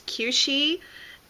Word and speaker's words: Kueshi: So this is, I guess, the proper way to pronounce it is Kueshi.